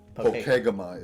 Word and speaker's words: Pokegama: So one thing, the GPS pronounced it Pokegama. So Brady and I got in a conversation as to what's the right way to pronounce that.